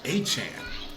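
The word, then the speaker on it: Achane: And he said that it's pronounced achan.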